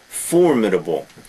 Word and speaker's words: formidable: Formidable, notice the pronunciation, the first syllable. Formidable.